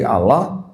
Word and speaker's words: Allah: Ya, ejaannya A L a H. Saya membacanya sebagai Allah di sini karena tidak ada tanda syahadat di sini, Pak.